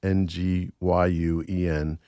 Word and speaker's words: Nguyen: And I'm reading a book right now by a guy named Joseph, I believe it's Nguyen. It's pronounced Nguyen.